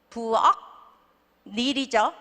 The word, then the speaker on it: 부엌일: 부엌 너무 좋아하죠 제가 부엌 일 부엌 닐이죠 그게 어떻게 돼요네 한국말 하듯이 숙녀 할 듯이 부엌일까지 가는 거예요 그러니까 참 힘든 발음